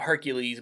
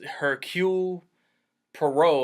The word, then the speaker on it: Hercule Poirot: Everybody call him Hercules, but he corrects him. It's Hercule Poirot, I think, is how he wants his name pronounced.